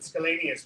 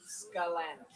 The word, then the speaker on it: Scalanis: I heard Scalanius, I heard Scalanius, and I heard Scalanis. Scalanis. Thank you.